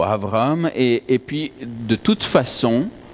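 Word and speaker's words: אברהם: Ma prononciation n'est peut-être pas excellente, mais on dirait plutôt Avraham.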